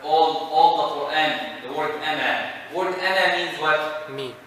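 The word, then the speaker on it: أنا: This zero right here is telling you if you stop, you pronounce the alif. You continue, you do not pronounce the alif. And this is in the all the Qur'an, the word ana.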